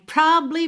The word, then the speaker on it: probably: Você praticamente quica no B, tá? Porque você não fala probably, tá? Esse A não aparece quase nada mesmo.